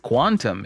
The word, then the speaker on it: Qtum: with actual long-term appeal qtum q tum pronounced quantum is the third and